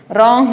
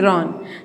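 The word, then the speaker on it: roan: हैं इसको ठीक है रंग नहीं रन तो ये जो इंटरमीडिएट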